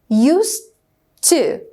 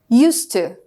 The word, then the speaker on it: used to: So the pronunciation is used, se, okay? Used to, used to.